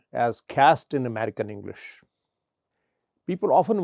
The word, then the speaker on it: caste: or pollution and a social status cast is pronounced as cast in American English people often want to know